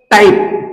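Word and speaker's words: type: होताना दिसत आहे त्याच्यानंतर टाईप टाईप या शब्दामधल शेवटच जे लेटर आहे हे आपणाला या ठिकाणी सायलेंट होताना दिसत आहे तर आपण या ठिकाणी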